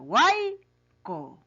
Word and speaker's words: huaico: Ahí está, huaico. Así se pronuncia, pues, niños.